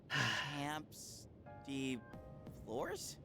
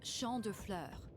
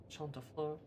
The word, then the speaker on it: Champ de Fleurs: Camps de Flores? How do you say that? It's Champ de Fleurs. Champ de Fleurs. It means field of flowers.